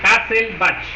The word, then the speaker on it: Hasselbalch: Es igual a forma de Hasselbalch, así se pronuncia. A ver, dígame por otra vez, Eileen. Hasselbalch.